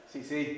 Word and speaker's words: Sce: He pronounces his name like the C in Spanish. Si, Mr.